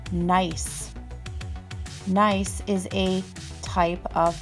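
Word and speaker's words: gneiss: an evenly shaped mineral the next word is pronounced nice nice is a type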